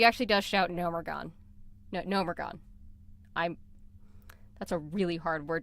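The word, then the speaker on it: Gnomeregan: I always thought it was Nomergon. It's actually Nomergon. Nomergon. There's you have to pronounce that E.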